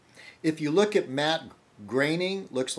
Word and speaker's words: Groening: Matt, the creator of The Simpsons, it looks like Groening, Matt Groening, or but he pronounced it Matt Groening. The O-E is A.